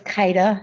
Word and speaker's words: Kyda: Kaida. Guys are close, huh? Okay, no, go ahead. Your name, ma'am? It's Kaida. It's spelled Kyda.